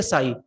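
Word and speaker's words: ψ: तो इसे हम प्रोनाउंस करेंगे साई, इसे हम कहेंगे this is the wave equation, ठीक है, ये वेव इक्वेशन है।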